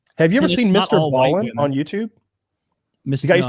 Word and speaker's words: Ballen: Ballin on YouTube? The guy used to be a Navy. I hope I'm getting his name right. It's like Mr. and then Ballin. Ballin is spelled Ballen.